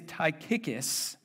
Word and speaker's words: Tychicus: about this name all right his name is taikikis and I promise you that is how you pronounce it and if it's not then you're